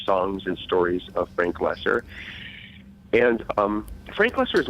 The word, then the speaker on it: Lesser: do you say Frank loser how do you say that name Frank lesser lesser like like greater and lesser so you know there's